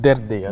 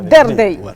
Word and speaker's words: Derdei: C'est Derdey. Derdey. Voilà. Derdey. Bonjour. Eh bien, il met l'accent pour qu'on prononce bien. Là. Oui, Derdey.